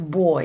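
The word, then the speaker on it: bòy: Now, in Haitian Creole, our word for dumpling is boy. It's spelled B-O-Y or B-O accent grave Y.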